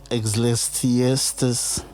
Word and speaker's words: Ecclesiastes: It will be from I always wanted to know how to pronounce it. Ecclesiastes. What? Because I'm trying to pronounce it how it's spelled. Ecclesiastes, whatever, chapter 3, from verse 1 to verse 8.